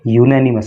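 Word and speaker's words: unanimous: Past ए यूनैनिमस resolution, इसका pronunciation आप विशेष रूप से ध्यान रखिएगा, इसको यूनैनिमस पढ़ते हैं, ठीक है।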